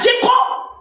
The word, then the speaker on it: Djeko: Parce que si quelqu'un est décédé, la première personne concernée que nous on connaît, à part Djeko, c'est comme ça on prononce son nom, son frère là, Djeko.